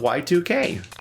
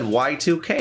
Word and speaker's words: YIIK: Welcome to the wonderful world of Y2K.